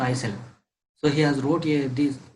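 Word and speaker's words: Rouget de Lisle: Marseillaise, and it was written by Roget D. Isel. Okay, Roget D. Isel. Okay, so L is silent, so Isel.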